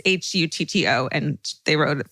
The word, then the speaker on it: Hutto: It's Hutto, and they wrote it phonetically for me, which I appreciate.